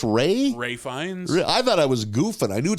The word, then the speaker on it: Ralph: his name it's not raly no it's spelled like Ralph is that what it is and it's pronounced Ray Ray fines I thought